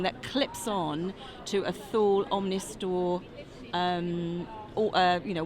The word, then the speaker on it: Thule: So, on the front of your Omnistor, your Thule awning, that's the pronunciation.